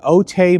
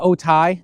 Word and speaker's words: Otay: So for this week's video, I am in Otay Mountain. So Otay or Otai, depending on how you pronounce it. I pronounce it Otay, but I put it both ways.